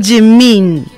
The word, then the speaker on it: de mim: Y también la D, luego también la pronuncio como un poquito como J, como G, como G, así. G, como ajá.